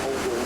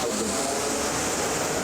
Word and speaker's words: Holborn: So it looks like Holborn, but it's pronounced Holborn.